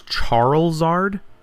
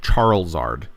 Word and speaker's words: Charizard: He thought his name was Charlesard. Like, C H A R L Z A R D. Charizard.